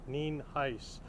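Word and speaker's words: Nienhuis: is spelled n i n huis and there's pronounced nen Heist um as you probably know we're here as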